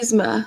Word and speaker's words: Yzma: We talked about it's Yzma with just like an E sound.